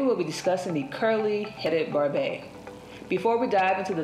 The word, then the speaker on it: Barbet: The Barbet, pronounced Barbet, with the T being silent, hails all the way from France.